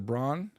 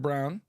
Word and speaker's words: Braun: Braun. Oh, it's pronounced Mr. Brown.